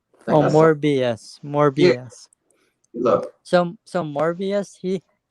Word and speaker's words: Morbius: It's I think think it's spelled Morbus. Morbus. I think Oh, that's something. Morbius.